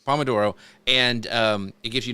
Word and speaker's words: pomodoro: I think is it Pomodoro? Is that how you say it? I don't never know. Yes, Pomodoro. Pomodoro, and it gives you,